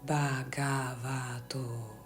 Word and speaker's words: Bhagavato: Bhagavato.